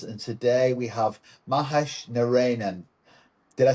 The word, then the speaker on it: Narayanan: I'm Paul Manivan of Max Tech and Partners and today we have Mahesh Narinan. Did I say that right? Mahesh first. Close enough. Mahesh Nionan. Yes. Narinan.